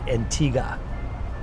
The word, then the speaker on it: Antigua: to Barbados no uh Antigua no Antigua Antigua Antigua um but in in Antigua they pronounce it Antiga watch that the locals